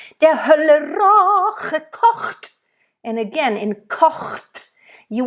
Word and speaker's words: kocht: Kocht. So make sure, literally, it's almost like you want to make it a separate syllable.